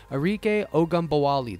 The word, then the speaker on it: Ogunbowale: Arike Ogunbowale.